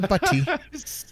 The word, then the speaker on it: butty: Oh, actually, I mean, I'll drop the T. Butty. Nah? Yeah, I forgot. Oh, stop. The glottal stop.